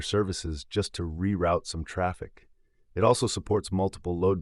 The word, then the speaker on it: Traefik: these Services efficiently enter trafic pronounced traffic traic makes life easier